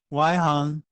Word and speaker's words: 外行: Waihang means outside the street, or people who are not from your street, people who do not know about your expertise.